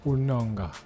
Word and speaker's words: Onanga: H Et est-ce qu'on est-ce qu'on dit onanga ou bien ça c'est la prononciation française ? Onanga.